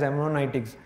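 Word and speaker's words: hermeneutics: me how do you pronounce this thing as Heron itics they pronounce so I also pronounce harmonics of Suspicion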